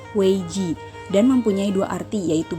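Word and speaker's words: 危机: krisis yang berarti keputusan dalam bahasa Cina krisis diucapkan dengan weij dan mempunyai dua arti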